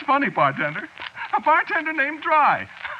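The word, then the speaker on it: Drei: Yeah, but of course that ain't the way you spell it. See what? No, you see it's a German name. Is it? Yeah, sure. Spelled D R E I. It means three, you know.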